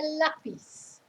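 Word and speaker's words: lápiz: course need um a lapis a pencil at least one if not more and notice where the accent is so it's not lapis it's lapis the stress is on the first syllable lapis and then they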